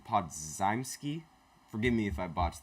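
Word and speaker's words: Podziemski: Podzimski. Okay, that's how you pronounce his name.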